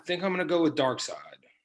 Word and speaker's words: Darkseid: i'm gonna go with darkseid or however you say his name you said it correctly hey man i was in a comic book store one time and i heard a guy say dark seed i heard don't ask